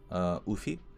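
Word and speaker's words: Öufi: I know that UFI, that's how you pronounce it, UFI.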